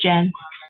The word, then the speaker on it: Jen: Is it Jan or Jan? It's Jen. Jan. Okay, sorry. I've been calling you Jan this whole time.